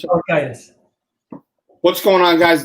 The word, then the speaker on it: Paliukaitis: Paliukaitis, close, Matt. Paliukaitis. Sounds like laryngitis. Paliukaitis.